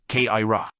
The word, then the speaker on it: Kyra: Kyra is the word for those of 3rd degree, which they pronounce Kaira.